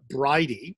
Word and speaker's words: Bridie: The other thing that struck me, the other similarity is the one of the main characters, the volunteer, Bridie. That is how you pronounce her name, right?